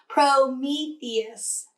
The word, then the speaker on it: Prometheus: the police myself that's a Prometheus is how you say the name of the Greek god